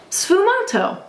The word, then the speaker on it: sfumato: was known ASU M say that with me it kind of rhymes with t Fu M sfumato can you look look